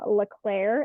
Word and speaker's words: Leclerc: you can find me at um M Leclair and that is my last name is spelled l-e-c-l-e-r-c um you can find me there